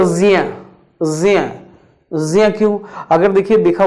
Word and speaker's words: ज्ञ: वैसे ही अगर हम ज्ञ की बात करें तो यहां ये ज्ञ तो नहीं, शुद्ध उच्चारण होगा ज्ञ।